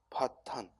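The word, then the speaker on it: 破綻: 파 정리 아니라 뭐야? 파탄. 이게 탄자라는 거예요. 요 실사변변에 붙은 이 글자가 탄자입니다. 탄자. 정이라고 읽기 쉬운데 파탄, 탄자라는 거 주의하고. 파탄.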